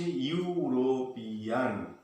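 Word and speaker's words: European: তুমি ধরো ইউরোপিয়ান, স্পেলিংটা হলো ই ইউ আর ও পি ই এ এন, অথচ উচ্চারণ হচ্ছে ইউরোপিয়ান, ই দিয়ে শুরু হয়েছে কিন্তু উচ্চারণটা হচ্ছে ইউরোপিয়ান, অর্থাৎ অ্যান ইউরোপিয়ান, ওটা ভুল।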